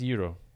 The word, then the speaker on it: gyro: a Euro it's called It's pronounced Euro Euro Euro or like or like